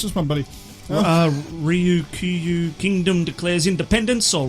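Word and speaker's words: Ryukyu: Do you want to help me pronounce this one, buddy? Ryu Kyu Kingdom declares independence, or Ryu Kyu Ryu Kaio, I like the sound Tomato of that.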